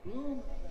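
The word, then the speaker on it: Blum: The first Bloom is B-L-O-O-M. The second Bloom is B-L-U-M. Pronounced, of course, the same way.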